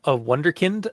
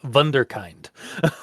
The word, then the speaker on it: Wunderkind: So yeah, that's got to be like German or something. Oh, absolutely. Yeah. I say that like it's absolutely not going to be now. Yeah, Wunderkind.